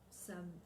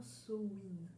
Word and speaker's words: Samhain: mère donc pour ceux qui connaissent ces cris samo same mais ne se prononce pas ainsi et se prononce normalement sowind donc sauf si on va revenir un petit